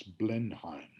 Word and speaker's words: Blenheim: of the battle of what became known as blenheim it was a mispronunciation of blind time a little town outside